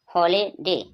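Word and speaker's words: whole: ऑन the beach ड्यूरी holiday holiday मतलब हल मतलब होता है डब्लू साइलेंट होता है यहां पर डब्लू साइलेंट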